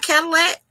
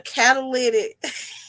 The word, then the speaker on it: catalytic: Oh, I'm saying it wrong. It's not Cadillac. Okay, a catalytic. Yeah, thank you, Miss VS. Y'all just gonna let me call it Cadillac.